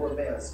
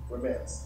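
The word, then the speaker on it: remez: doing is he was doing a thing called romance can you say that with me romance is spelled r-e-m-e-z romance now i'm not gonna get anything difficult i'm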